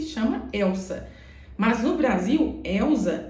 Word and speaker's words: Elza: Mas no Brasil, Elza é com Z, senão você não pronuncia dessa forma.